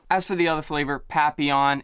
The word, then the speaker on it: papillon: for the other flavor papillon it's not papillion even though that's how it's spelled uh it is pronounced papillon if you search on